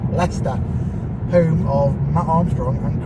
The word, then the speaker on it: Leicester: Pronounced Leicester. Not Leicester, Leicester.